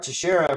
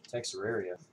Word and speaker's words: Teixeira: Mark Teixeira for the Yankees. I learned how to say his name, everybody. I used to call him Texeraria.